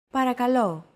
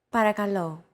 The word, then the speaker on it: Παρακαλώ: Don't forget that words get accentuated in Greek, so make sure to stress that final syllable with the accent mark. Repeat after Chrissy. Παρακαλώ. Παρακαλώ.